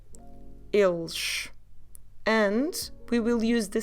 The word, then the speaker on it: eles: If you still remember he, il, here you again need to add s at the end, and you have the sound sh. So you go eles, eles.